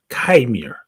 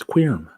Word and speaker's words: Qimir: Chimir. That's not spelled right. It's Qimir. Quirm. That's what it means. Quirm is how you pronounce that, you fucking idiots.